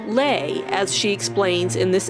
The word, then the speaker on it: Leigh: While everyone called her Lee, her name was really supposed to be pronounced Lay, as she explains in this interview.